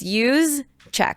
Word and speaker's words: Yusek: Yusek. Oh, use check. Oh, yeah. I met her and that's how she said it's use check.